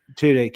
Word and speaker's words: Tudyk: Tudyk.